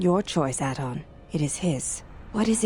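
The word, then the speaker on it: Atton: It is not your choice, Aton. It is his. What is it you wish to do? Aton, I'm supposed to emphasize the second syllable there. I'm not comfortable with that. Aton is fine.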